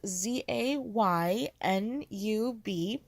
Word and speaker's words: Zainab: - my name is aina the pronunciation I like to give is za y and UB I am Lebanese and